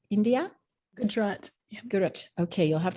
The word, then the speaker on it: Gujarat: with roots in, am I saying this right, Gujarat, India? Gujarat. Yeah. Gujarat. Okay, you'll have to, help me be more pronunciation specific.